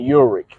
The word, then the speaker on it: Ulrich: Ulrich should have just been pulling up, and I've been like mispronouncing his name every once in a while